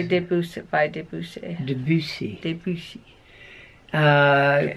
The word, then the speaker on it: Debussy: that How do you say Debussy?